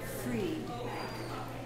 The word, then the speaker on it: Fried: promote his book, Stephen Fried. Spelled like fried potatoes, but it's Fried.